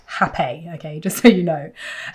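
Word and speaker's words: rapé: If you don't know what hape is, it's the thing that looks like it's spelt rape, R-A-P-E, but it's pronounced hape, okay, just so you know.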